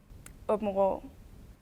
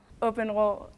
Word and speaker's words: Åbenrå: So how do you pronounce the name of your town? Åbenrå. One more time. Åbenrå. Åbenrå.